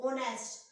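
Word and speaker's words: honest: लेकिन नहीं guys, pronunciation में ये ओ की साउंड देता है, हिंदी का जो हमारा वोवेल है ओ, ऑनेस्ट, तो इसलिए यहाँ पे क्या होगा, यहाँ पे आएगा आपका एन, ठीक है।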